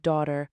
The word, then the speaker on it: daughter: But he still forgot the I in Ephraim and laughably pronounced the silent G in the word daughter.